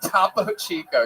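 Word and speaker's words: Topo Chico: Tapo Chico. Yes, that is exactly how that's pronounced.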